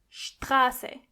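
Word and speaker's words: Straße: The same exact thing goes when you see a T after an S. Together they are "scht". For example, "Strasse".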